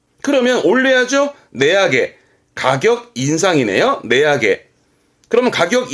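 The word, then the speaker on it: 値上げ: 내약에. 가격 인상이네요. 내약에. 그러면 가격 인하네요.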